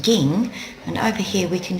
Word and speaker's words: 銀: this is the kanji here for silver it's pronounced ging and over here we can see it's used